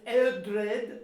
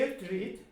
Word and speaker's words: Eldred: Sometime in the 900s, Eldred added an Anglo-Saxon gloss to the Latin text. It starts with E and pronounced like an E. Eldred.